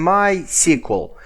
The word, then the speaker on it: MySQL: about pronunciation well actually i'm saying sqlite and mysql because it's easier for me it's somehow logical but some people are saying sqlite and my sequel so if you have